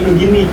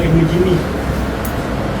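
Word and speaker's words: ابن جني: Nah, di gua banyak kan sebut Ibnu Jim bacanya Ibnu Jimi. Eh, bacanya Ibnu Jini bukan Ibnu Jimi ya.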